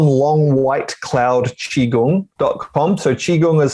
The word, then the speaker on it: qigong: a bit more about qigong brilliant i've just realized i've been saying it wrong as well i'm nice qigong not chi-gong look there's different pronunciations